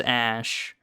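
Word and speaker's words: Æ: again it's just sentence it's supposedly pronounced X ash and then the name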